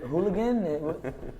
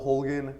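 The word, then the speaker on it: Holguin: who is and is your last name pronounced so again is it pronounced hooligan how's your name pronounced well my name is Hogan I come from Kansas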